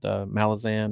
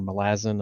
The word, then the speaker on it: Malazan: He wrote Malazan or Malazin. I've heard it pronounced both ways.